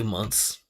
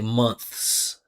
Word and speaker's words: months: just in natural speech, we we actually just drop the th we just say months. 6 months, seven months, eight months. But if you want to pronounce it slow, clearly, right, quote unquote correctly, you can say months.